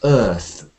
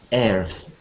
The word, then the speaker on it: Earth: the solar system let's this word actually is quite commonly mispronounced so this is Earth Earth and um the key vow sound here is like bird and Sir Earth and I think one of the most common mispronunciations of this is air earth like this sounds a bit like chair too much like chair so we have uh